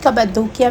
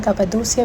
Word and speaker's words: Cappadocia: हमारी फ़्लाइट है from Istanbul to कपादोसिया। कपादोकिया भी कहते हैं, कपादोसिया भी कहते हैं, डिफरेंट प्रोनाउंसिएशंस हैं इसकी।